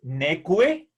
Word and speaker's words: neque: La U después de la Q suena, por lo tanto es neque, cue, y el diptongo